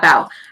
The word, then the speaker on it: Bao: Yeah, and like the specific, I don't think the synopsis says like how I think Bao is how you say his name. There's a pronunciation guide. Let me check. Bao. Yeah, Bao.